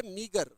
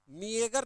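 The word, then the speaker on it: meagre: मिलताजुलता word है मिगर। मिएगर नहीं पढ़ेंगे इसको। क्या पढ़ेंगे? मिगर। ए को साइलेंट रखेंगे। मीगर ऐसे पढ़ना है। मीगर ए साइलेंट होगा।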